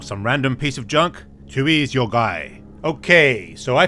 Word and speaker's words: Tui: have been absolutely hilarious okay so let's read tui's bio card Tui it's pronounced Tui is a self claim trash Roden